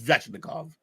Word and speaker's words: Svechnikov: I was sitting there trying to figure out how to pronounce that name. It's Svechnikov.